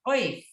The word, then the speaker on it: אויף: Oif. Like oi.